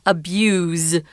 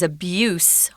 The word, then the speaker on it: abuse: It's spelled the same, but it's pronounced abuse with a Z. But the noun is abuse with an S sound.